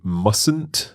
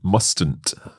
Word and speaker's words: mustn't: that's right you say mustn't not mustn't that's right so that t um is silent we don't pronounce it okay driving slowly also